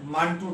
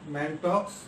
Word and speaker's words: Mantoux: और second question मेरा है मांटू टेस्ट। तो मांटू टेस्ट, कोई इसको प्रोनाउंस करता है मैंटॉक्स, but commonly it is known as मांटू test. X का प्रोनाउंसिएशन नहीं होती है।